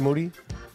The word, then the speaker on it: Moody: with G Moody uh last name rhymes with dudy yes yes H how are you Mr Moody I am great man